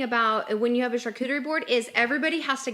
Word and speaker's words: charcuterie: Cooterie. Oh. Coot. The CH at the front is the ch, and then it's the coo. Charcuterie.